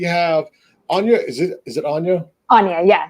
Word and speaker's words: Anya: Anya, yeah, like tell me without the T.